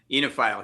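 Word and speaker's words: oenophile: yeah god yeah he he's an onophile is that how you pronounce it enophile uh enophile he's an enophile and uh what a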